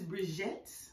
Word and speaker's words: BriJette: Listen, this is BriJette. Say it right, boo. Don't say it wrong. It's like Sinette. BriJette, get it right.